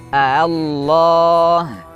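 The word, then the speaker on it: آلله: Allah boleh dibaca dengan mad lazim Allah 6 harakat dan boleh juga dibaca dengan tashil Allah.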